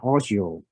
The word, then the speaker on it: OGCIO: for you so okay ogcio we pronounce it as audio which means office of